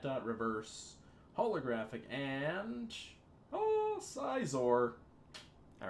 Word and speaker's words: Scizor: it's a side aside I keep saying Scizor I think scissor is how it's pronounced right gotta go with